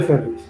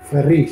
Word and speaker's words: Ferrís: Ferris. Léelo. Es que lleva acento en la I.